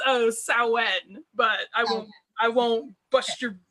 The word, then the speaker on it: Samhain: That just means you learned how to pronounce it from reading, which is never bad. Yeah, it's Samhain, but I won't bust your butt for calling it Samhain.